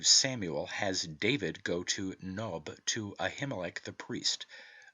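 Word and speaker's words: noeb: n-o-e-b but it is pronounced as if it were naive with the O having a short sound as OE if the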